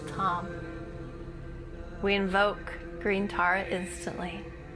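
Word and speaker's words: Tam: And the seed syllable for green Tara is Tom, T-A-M. And as we invoke the syllable Tom, we invoke green Tara instantly.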